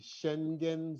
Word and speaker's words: Schengen: like ours somewhere in what is called the schengen zone do i get the pronunciation correct it's spelled s-c-h-e-n-g-e-n as well as